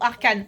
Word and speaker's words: Arcane: bon faut absolument qu'on parle d'arcain ou arkanane si vous le prononcez à la française mais la dinguerie de